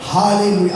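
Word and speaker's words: ஹல்லேலூயா: இந்த அல்லேலூயான்ற உச்சரிப்பு கூட அப்படி சொல்லக்கூடாது. ஹalleluya, அந்த வடமொழி இருக்கு பார்த்தீங்களா? அந்த ஹா, ஹரிகிருஷ்ணன் ஹா, அதுதான் வரும் ஹalleluya.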